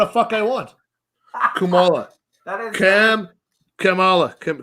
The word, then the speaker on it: Kamala: It's not even It's not even pronounced Kamala. It's uh Kumala.